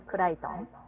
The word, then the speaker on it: Crichton: Michael Crichton.